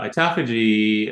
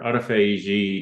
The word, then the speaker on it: autophagy: just the process vaposis uh autophagy or autophagy depending upon again is pronouncing it um is that